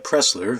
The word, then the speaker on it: Pressler: by Brad Pressler Brad Pressler whose surname rhymes with wrestler writes from Cincinnati Ohio